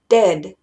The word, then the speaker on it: dead: buen dominio del inglés, mucha gente tiende a pronunciar la palabra de muerto, como dead. Dead, como si fuera dedo. Y no es así, tiene que ser dead.